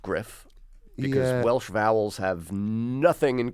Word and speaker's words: Gruff: it is I mean it's a Welsh name and so it's pronounced Griff Welsh vowels have nothing